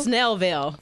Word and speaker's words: Snellville: everybody got real good snail snail Ville yeah and you have to say it like that too we're everybody's somebody we